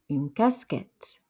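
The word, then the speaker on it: casquette: a baseball cap in casket a beanie ambonie remember e t at the end makes an a sound some gloves de gong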